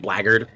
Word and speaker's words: blackguard: And for those of you who don't know what blackguard is, it's spelled blackguard, but it's pronounced blackguard.